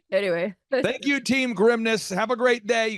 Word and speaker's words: Grimnes: this dad he's like think of it as like the grimness of the situation I'm like Dad that's not good don't say that no don't it's good no like anyway thank you team grimness have a great day